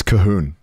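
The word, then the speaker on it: Colquhoun: name what is it it's cahun but like it's got like loads of letters that are un pronounced it's like c q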